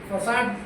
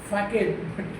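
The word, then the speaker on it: façade: This facade spelling is f a c a e. You will be tempted to spell it as pronounce it as fake that is facad.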